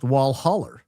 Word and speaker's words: Walhalla: Uh down south Alhalla is Walhalla, pronounced wallholler.